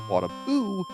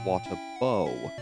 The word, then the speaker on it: Watabou: The character I've been referring to as Wataboo should actually be called Watabou because O U would make an O sound rather than U.